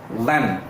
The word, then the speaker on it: one: Actually இதை நம்ம எப்படி ப்ரொனவுன்ஸ் பார்த்தீங்கன்னா வன் எப்படி பண்ணணும், வ. இந்த வி சவுண்டு இல்லைன்னா டபிள்யூ சவுண்ட், இந்த சவுண்டு தான் அங்கே இருக்கும். வ அப்படிங்கிற சவுண்ட் இருக்கும்.